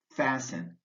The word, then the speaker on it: fasten: the P in cupboard the T in fasten and the W in answer plumber folk cupboard fasten answer watch out -